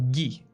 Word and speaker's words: Guy: The U from guy is mostly mute. So gi, right? Like G-E-E or G-I.